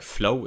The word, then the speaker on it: Flo: new on this channel my name is Flo is pronounced flu it is a German name but you can just pronounce it like Flo if that is easier like Flo for you I'm from Germany as